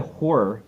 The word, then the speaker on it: horror: I have to learn how to say horror because I've always said horror, which is 2 syllables to me. Mm-hmm. Horror, but it sounds like I'm saying 1 syllable, and that's a different kind of genre.